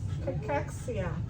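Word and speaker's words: cachexia: How do you pronounce it? Cexia.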